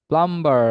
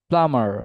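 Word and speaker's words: plumber: is dengue and also we মিসপ্রোনাউন্স প্লাম্বার ইট ইজ নট প্লাম্বার ইট is actually প্লামার and also we miss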